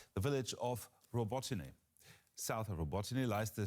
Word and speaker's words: Robotyne: No one says it correctly. We have one. Okay, it's Robotyne. You can just say Robotyne.